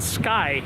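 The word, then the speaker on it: SkEye: I think it's called Sky. It's spelled S-K-E-Y-E.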